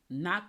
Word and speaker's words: Ngoc: name is knock lane knock lantha lee i think that's that's the same person i met her and i was like how do you pronounce it and she said it's pronounced knock but it's spelled in